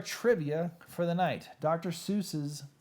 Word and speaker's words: Seuss: read it guys will switched the to the anglicized pronunciation because it evoked a figure advantageous for an author of children's books to be associated associated with mother Goose so dr. Seuss Mother Goose so he adopted the Seuss because it sounded like Mother Goose and he added the